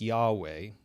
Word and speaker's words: Yahweh: Historically, that would have been pronounced something like Yahweh, God's personal name. In Jewish tradition, we will read this as Adonai Elohim.